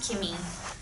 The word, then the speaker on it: Kimmy: at her name tag it's pronounced Kimmy this party is the